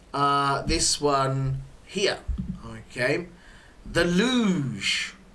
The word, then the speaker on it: luge: So you got luge, which is an interest. Again, you can hear the pronunciation. We don't say lug. Yeah, this one is more of a j sound, luge.